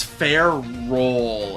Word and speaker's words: Ferrol: Oh my god, it's Ferrol, as in like Ferris, as in iron, and roll as in ball.